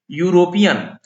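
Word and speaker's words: European: यूरोपियन, यहाँ ई और यू दोनों वॉवेल है, लेकिन इनका प्रोनाउंसिएशन देखिए तो हिंदी में व्यंजन हो रहा है य हरस उकार, यू।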